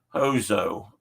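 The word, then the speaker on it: hozho: you this word that the word for it is hozo and they spell it h-o-z-h-o or he's Belladonna what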